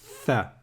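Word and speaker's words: ث: Bon, alors, le tha ici, là, il se prononce comme en anglais quand on va dire 3.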